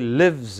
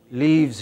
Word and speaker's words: lives: It should be he lives in Patna. It should not be he leaves in Patna.